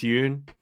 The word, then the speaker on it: Yoon: My name is Yoon, rhymes with moon.